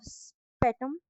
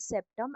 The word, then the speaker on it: septum: Then you have spetum. Spetum is, you can call it septum, anything you want. I just forgot the pronunciation for a while. It is called septum, and it inhibit aggressive behavior.